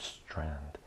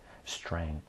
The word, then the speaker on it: Strang: edition um linear algebra and applications uh Gilbert strand Strang uh Strang okay I'm really bad at pronouncing names so uh my apologies to the